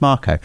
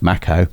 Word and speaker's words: Mako: a Marco reactor sorry I would say Mako but officially it's pronounced Marco uh can you say Mako it's definitely not pronounced Maco it's definitely yeah give us